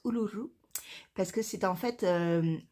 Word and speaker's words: Uluru: Alors oui, ça se prononce Uluru parce que c'est en fait l'ancien nom, enfin,